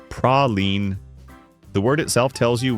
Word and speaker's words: praline: Praline is the hard French version or a mass-produced imitation. In New Orleans, it's praline.